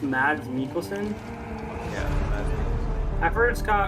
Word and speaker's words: Mads Mikkelsen: This is Mats Mikkelsen, right? The Danish. Yeah. It's pronounced Mads Mikkelsen?